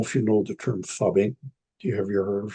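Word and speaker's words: phubbing: It's spelled PHUB, fubbing, and it's a common term in the digital world, because it's a very common experience in the family.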